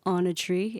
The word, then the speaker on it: Åna Tri: just released our debut album on a tree a n a t r i that's us and our album name is on a tree like you're on a tree you know like sitting